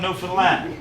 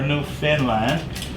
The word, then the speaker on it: Newfoundland: is a newfoundlander now ernest pronounced newfoundland not newfoundland or new finland this evening in prague